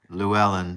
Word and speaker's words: Llewellyn: Llewellyn.